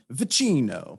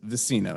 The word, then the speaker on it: Vicino: So on the last name pronunciation, you actually nailed it in both cases, because like the Italian way to say it is Vicino, but the American way is Vicino.